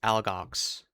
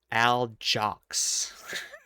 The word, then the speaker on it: Algox: She pronounced it Aljox with a hard J, Aljox.